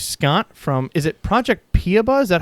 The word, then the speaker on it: Piaba: excited to introduce Scott from is it project piaba is that how you pronounce it we've been pronouncing it all different ways paba paba excellent that's it y so thanks so much